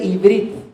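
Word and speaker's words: עברית: La palabra hebreo en el idioma hebreo, valga la redundancia, se dice ibrit. Ibrit es el nombre hebreo o es como se pronuncia en hebreo la palabra hebreo, Ibrit.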